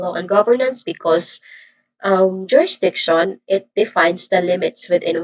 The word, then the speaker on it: jurisdiction: All in all this is jurisdiction where this primary stress on the is on the third syllable. Again jurisdiction.